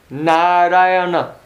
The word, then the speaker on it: Narayana: So, his child was born and he thought, okay, your name is Narayana. Narayana. 4 syllables.